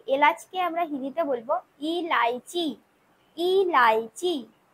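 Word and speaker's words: इलायची: এলাচকে এলাচকে আমরা হিন্দিতে বলবো ইলাইচি ইলাইচি। এলাচকে আমরা কি বলবো হস্যই লয়াকার অন্তস্থ চয় দীর্ঘী ইলাইচি।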